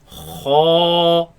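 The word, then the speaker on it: خاء: Kha, Kha, kha, kha, kha, kha, kha. kha. Now this letter comes from the top part of the throat.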